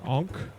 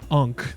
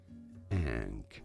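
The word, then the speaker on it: ankh: Ank. Is that what it's called? Am I saying that word right? Ank. It's like an N kh. Now I'm immortal. yeah, dude. No, it's not unc. That's different.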